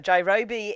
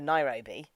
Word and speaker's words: Nairobi: And it turns out Jairobi is the Japanese pronunciation for Nairobi.